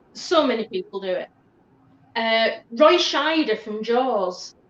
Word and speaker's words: Roy Scheider: Roy Scheider from Jaws. People always put an N in there. Roy Schneider.